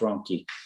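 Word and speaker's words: Ronchi: that so you see spell r-o-n-c-h-i is pronounced rocky does anybody in your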